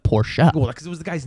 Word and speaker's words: Porsche: big car guy and if I would be like oh it's a poor he's like poor shot cause it was the